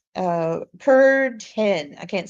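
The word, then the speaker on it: Kürten: And I want to do Peter Curten. Uh Kurten. I can't say it right. Not like a curtain, like a drapery, but ken.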